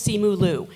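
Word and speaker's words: Simu Liu: losers with Lorenzo Izzo and simulu I always mispronounce his name it's Marvel's simulu please welcome Lizette Feliciano and they are a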